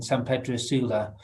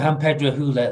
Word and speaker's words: San Pedro Sula: case study came from in san pedro sula or um or hamper hula as they as they pronounce and um and it's